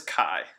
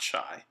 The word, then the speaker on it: chi: chi-squared test do and it is Chi not shy kind of similar to